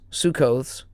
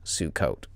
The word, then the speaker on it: Sukkot: Feast of the booths sucot sukkot. Oh yeah. Okay. Variations and spellings occur because these words are transliterations of the Hebrew word pronounced sukkot.